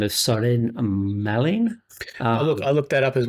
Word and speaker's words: Søren Malling: So that was a gentleman by the name of Søren Malling. I looked that up as well, and you've just pronounced it exactly as it's meant to be, Søren Malling.